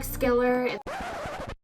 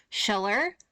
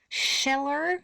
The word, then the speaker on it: Schiller: philosophy and play friedrich skiller hi hello this is editing holly here i realize actually i've mispronounced this man's name throughout the entire video so forgive me it's actually friedrich schiller schiller so i'm sorry once